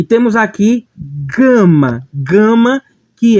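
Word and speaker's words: γάμμα: exatamente ao que porém a sua pronúncia não é como girafa e sim como em gato gato O Gue vai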